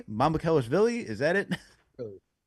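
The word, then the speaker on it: Mamukelashvili: So, there was a whole discussion on how to pronounce this name. I'm going to try it because Chris taught me. It's Mamu Kellish Villi. Mamu Kellish Villi.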